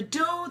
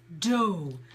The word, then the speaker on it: dough: word good dough so the dough that we use with to make pasta to make bread is dough so it's spelt do ugh dough so show Bowl the same sound and Michael you said